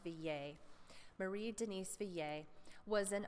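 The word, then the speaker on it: Villers: Marie Denis Villiers and since I'm seeing that she's French I would probably be pronounced V yay Marie Denis VA was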